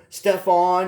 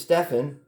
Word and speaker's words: Stefan: They're calling him Stefan, and his name is Stefan. That's how he pronounces it, and and they had a picture of Kevin Garnett up there.